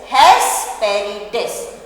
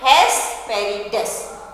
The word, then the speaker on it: Hesperides: So the pronunciation is Hesperides. What is the pronunciation? Hesperides. Right? Hes. H-E-S, Hes. P-E-R-I, Peri. D-E-S, Des.